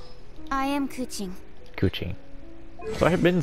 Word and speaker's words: Keqing: in uh she'll say her name i am kuching kuching so i have been saying her name